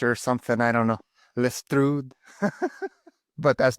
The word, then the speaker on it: Lestrud: So what's the proper pronunciation? Well, Lestrud. Yeah.